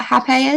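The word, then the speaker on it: rapé: So rape or hape, I call it hape because it's easier. It's spelt like rape, R-A-P-E, but with an accent over the E.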